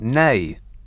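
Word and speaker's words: nej: says n e n-e-j-n-a-n-e-j is no in swedish pronounced nay uh says the caroline caroline rather in glasgow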